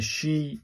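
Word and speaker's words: し: Number two uh from last week was she as in pronounced in the she as in sheet.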